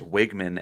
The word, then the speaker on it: Wegman: Uh so we've been told it's Wiggman as if there was no E in it.